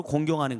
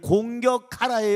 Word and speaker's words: 공경: 있습니다 너희 아버지 어머니를 공격하라 여 공경 말아요 발음을 잘 해야 되요 공격하러 가 아니라 공경하라는 거예요 그럼 공경 이란 말은